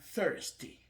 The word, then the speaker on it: thirsty: I am thirsty. I am thirsty. Tu prononces après moi thirsty. Thirsty.